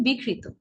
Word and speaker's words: বিকৃত: যেমন ধরুন বিকৃত, বিকৃত নয়। আপনি যখন দেখুন, যখন বলছেন বিকৃত, প্রথম শব্দটি রয়েছে যে বিকৃত, যখন বলছেন তখন ক 2 বার আসছে, বিকৃত, শব্দের অর্থের পরিবর্তন হয়ে যাচ্ছে, বিকৃত, ঠিক আছে, এরকম হয়ে যাচ্ছে। উচ্চারণটি কি হবে? বিকৃত। বিকৃত নয়, কি হবে?